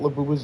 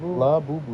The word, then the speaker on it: Labubu: Labubu. How you spell it? Labubu? Labubu. It's the way it actually sounds. Oh, yeah. It's, what's a phonetic? It's a phonetic.